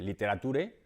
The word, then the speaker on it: literature: pronunciar parecido al castellano, pero sin embargo la pronunciación es bastante diferente. En primer lugar, por la sílaba tónica que está muy al principio, y en castellano no